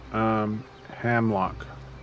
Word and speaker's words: Hemlock: H-I-M Hemlock? So phonetically broken here. Hamlock. That would be 5. Not him, not Heim. It's Ham.